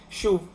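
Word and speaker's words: שׁוּב: Son palabras que en hebreo tienen la misma raíz. Se pronuncia shuv.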